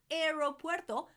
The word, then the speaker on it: aeropuerto: Aeropuerto, not aeropuerto, aeropuerto. Aeropuerto, we pronounce all the vowels there.